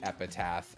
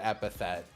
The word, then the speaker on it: epithet: in the auditions, because the word epithet was in there a couple times, and about 70% of people pronounced it epitaph. And now anytime I want to use the word epithet, like, to mean, like,